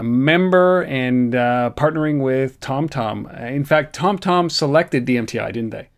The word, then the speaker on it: TomTom: where TomTom is based I say TomTom like you but it's TomTom um so you have to say it properly otherwise you get in